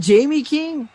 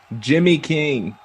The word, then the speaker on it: Jimmy King: think it was interested I thought I heard you say Jamie isn't it Jamie King Jimmy Jimmy King oh my God why have you been saying this all this year I've been saying it wrong you get my point